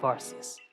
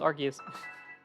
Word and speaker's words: Arceus: Why you have the blessing of Arus? You're saying it wrong. It's Argus.